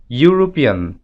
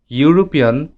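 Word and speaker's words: European: কারণ আগের মতোই ইউরোপিয়ান শব্দটি উচ্চারণ করতে ওয়াই ইউ এই সাউন্ডটি প্রাধান্য পাচ্ছে, ই সাউন্ডটি প্রাধান্য পাচ্ছে না।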